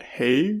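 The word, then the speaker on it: Haig: called the midnight library by matt hay i think is how you say it but it's really good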